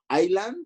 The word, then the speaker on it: island: letras como el islah island es verdad que no se pronuncia la s bueno pues este es